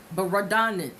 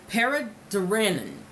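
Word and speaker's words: Baradaran: Wealth Gap by Marsha Baradanen. Now see, when I said it in my head a million times, it sounded just fine. Paraduranen, I believe is how she pronounces it.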